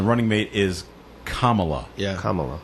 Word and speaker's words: Kamala: mate is uh you you pronounce the first two syllables of her name like comma like the punctuation mark so if you if